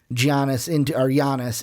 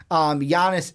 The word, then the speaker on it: Giannis: Yeah, they have pieces, but is it enough to transcend Giannis into? I caught myself. I said the hard G. Giannis into the pantheon and into the top 3 in the East.